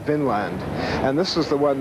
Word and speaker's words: Vinland: Now, this has been a controversy in scholarship ever since, because people want to, in modern days, see it as V-I-N with an accent on the I, Vinland, meaning land of wine or land of grapevines.